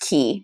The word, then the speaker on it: qi: First of all, I liked it pronounced key, even though it's spelled QI, because it sounds like KEY.